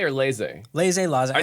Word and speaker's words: laissez: Is it laissez or laissez?